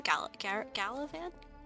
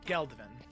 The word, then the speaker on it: Geldovan: How do you say her name? Galavan? No, Geldovan. Oh, Geldovan.